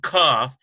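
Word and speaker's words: כ: So you got hard K sound, kaf, and ch sound.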